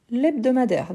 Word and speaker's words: hebdomadaire: Et oui, on dit l'hebdomadaire, donc c'est un H muet, et l'apostrophe.